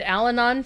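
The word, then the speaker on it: Allanon: One that I got right, and I feel very proud that I got right, was the pronunciation of the druid Alanon from the Shannara series.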